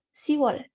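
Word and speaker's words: 시월: Tapi kalau buat orang Korea sendiri itu lebih mudah kalau mengucapkannya Siwol.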